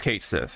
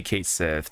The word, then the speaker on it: Cait Sith: is saying that this is how this is Kate Sith yes it's pronounced yes it's pronounced we can take this